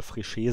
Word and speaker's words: Fréchet: Die Aussprache, ich verkacke sie immer wieder. Ich denke mal, es wird ausgesprochen Fréchet. Ich werde immer häufiger mal Fréchet sagen, weil es einfach so drin ist.